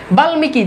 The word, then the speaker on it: বাল্মিকি: বাল্মিকি দেখেন ল এর সাথে যুক্ত হইছে। বাল্মিকিতে দেখেন ল এর সাথে যুক্ত হছে এজন্য দেখেন ময় এর উচ্চারণ আছে।